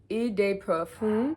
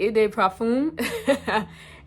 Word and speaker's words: eau de parfum: Next on my list is this Pistachio Brulee Eau de Perfume. I think that's how you say it, Eau de Parfum. And I gotta get my French right.